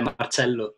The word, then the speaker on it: Marcello: So Marcello, it is pronounced Marcello, right? Yeah, Marcello.